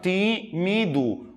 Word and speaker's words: tímido: antepenúltima sílaba e tímido separando tímido Olha o time do demora mais tempo aqui ela é portanto uma palavra proparoxítona sensacional galera olha que legal